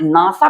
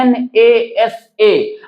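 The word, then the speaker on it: NASA: बी एंड आई तो ऐसे में जब आप प्रोनाउंसिएशन करेंगे तो इसको बोलेंगे एब्रविएशन राइट ऐसे बोलेंगे और लेकिन आप नासा को ऐसे नहीं बोलते हैं एन ए एस ए अगर आप इसको ऐसे बोलेंगे ना एन ए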